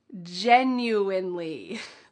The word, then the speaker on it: genuinely: There is an N in the middle of this word. Don't forget it.